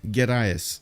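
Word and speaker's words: Gerais: um wait a second Minas gas right it wasn't yeah I was I think I was pronouncing an extra H over there gas okay Minas we do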